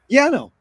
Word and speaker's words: Yanow: It's an honor and a pleasure to be here today with Yanow. Is that how you pronounce it? Yeah, no, it's fine. Yanow.